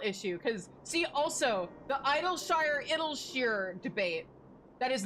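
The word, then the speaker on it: Idyllshire: See, also like it's not even like a Terrell issue cuz see also the Idolshshire debate that is not a debate. It is pronounced idles because that's how it's said in cutscenes.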